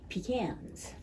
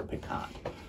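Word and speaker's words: pecan: this week I am going to talk about peans peans all right it's tasty or peons as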